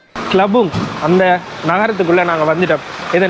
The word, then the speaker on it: Tlabung: கிளபுங்குடைய உச்சரிப்பு வந்து TLABUNG. கிளபுங் அந்த நகரத்துக்குள்ளே நாங்கள் வந்துட்டோம்.